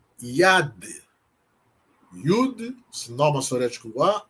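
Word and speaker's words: יד: Mais uma palavra, IAD. IAD. Yud, sin maçorético a E o dalet que tem som de D. Yad significa mão.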